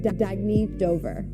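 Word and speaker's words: Dagne Dover: Oh, it's pronounced Dagny Dover.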